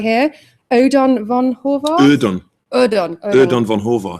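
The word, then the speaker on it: Ödön von Horváth: is Simon's adaptation and let me get the pronunciation right here Odon Von horar Odon Odon Odon Von horar thank you yeah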